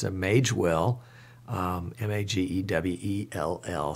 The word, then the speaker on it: Magewell: mage well nage w.e.l.l some people are pronouncing it mag well so i'm going to have to find out about that one but i'm going to continue to pronounce it mage well into your until I hear otherwise the mage well makes a